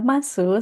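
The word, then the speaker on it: ます: Meskipun di sini tulisannya adalah masu, seringkiali kita bacanya itu mas.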